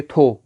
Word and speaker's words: تو: تو، تے واو تو، جس کو ہم تلفظ اچھا کر کے پڑھے تو ہم پڑھیں گے تھو۔ تو اگر ایک آپ